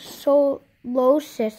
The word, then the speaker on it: Solosis: So, wait, how do you even say this? Solosis, actually. I said it wrong.